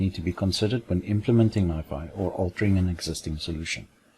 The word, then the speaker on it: NiFi: As can be heard, it's pronounced NiFi, and the reason for that is based on the fact that it is a rename of the original solution, which was called Niagara Files.